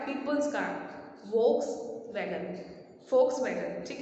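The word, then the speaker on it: Volkswagen: ठीक है, बहुत सारे लोगों के पास फोक्स वैगन होती है, लेकिन इसकी करेक्ट प्रोनाउंसिएशन उनको नहीं आती है, वो इसको वोल्क्स वैगन बोलते हैं। जबकि इसकी करेक्ट प्रोनाउंसिएशन क्या है? Focus wagon.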